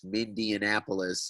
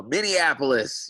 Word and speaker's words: Minneapolis: Hopefully people will stop calling us Mindianapolis and pronouncing the name wrong. So Minneapolis, you know, we're definitely on the map now, so to speak.